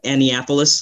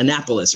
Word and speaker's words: Annapolis: doing today good good I know some people say anniapolis hopefully I said it right in Annapolis right I know but you got it yeah I don't want no